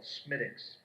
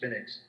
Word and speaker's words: Smithwicks: But they have a drink over there, a beer called Smittix. It's Smithwicks. But they pronounce it Smittix, and that's a good beer.